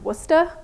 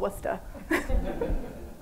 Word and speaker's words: Worcester: want to let you all know it's actually pronounced Worcester I am from the Boston Massachusetts area and